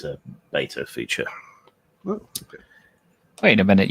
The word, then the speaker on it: beta: Oh, but we shall see whether it works because it's a beta feature. Okay. Wait a minute. You said beta. I thought you were British. This must be beta.